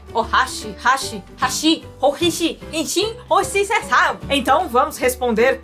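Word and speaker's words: 箸: vamos responder para vocês Se vocês falarem a palavra hashi acentuando a última palavra vocês estão falando ponte hashi em japonês significa ponte hashi em japonês significa pauzinhos para comer e a colocação do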